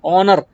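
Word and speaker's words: honour: consonant से लेकिन वो हम एच को प्रोनाउंस नहीं करते हम क्या करते हैं ओनर यानी कि हम एच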